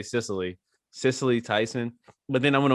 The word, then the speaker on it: Cicely: Cicely Tyson.